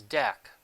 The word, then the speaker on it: Deque: element exception the second of these interfaces is dec spelled the same as dq but pronounced dec the prefix d e is an